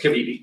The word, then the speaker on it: Cavidia: Have I pronounced it right? Yes, Kavidi. Cavidia, there we go.